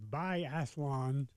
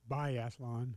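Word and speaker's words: biathlon: Bathlon. Uh I tend to add an extra syllable in there, but it's Bathlon.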